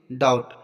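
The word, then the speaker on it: doubt: next example देखते हैं डाउट यहां पर देखो टी से पहले बी आया तो बी साइलेंट रहेगा नेक्स्ट एग्जांपल देखते हैं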